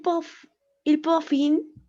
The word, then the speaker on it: profitent: En été, quand Cécile et Sylvain partent dans leur maison à la mer, ils profitent, no se pronuncia, ¿verdad? Ahí, el N.